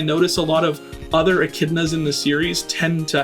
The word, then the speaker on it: Echidna: But for the moment, let's get back onto Echidna. A lot of silent letters in that name.